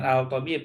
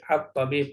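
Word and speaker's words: الطيب: contohnya atib kan langsung bukan Al bukan Al thib tapi at thib lamnya dibaca padahal ditulis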